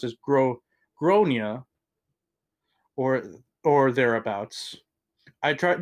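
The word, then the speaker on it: Gráinne: I would like to point out that I do not like the name Grain for the a child, nor do I like the way the pronunciation was butchered, but I was trying to be tactful and positive.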